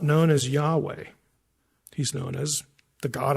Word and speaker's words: Yahweh: refer to that person pronunciation is yah and Yahweh you know what it